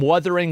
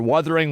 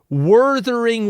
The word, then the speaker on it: Wuthering: been another sponsor for Wuthering Waves. And he calls it every single time Wurthering Waves. That's not how you say it. That's never been how you say it. Stop saying it like that. Wurthering Waves.